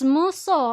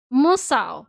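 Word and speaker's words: 無双: Because I've seen people mispronounce muso as... What's they do that? What did they do? Muso as... What's this type of game? Musao. Yeah, they would say musao.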